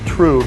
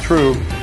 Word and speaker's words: trub: those proteins settle out it's called true spelled trub pronounced true and that true is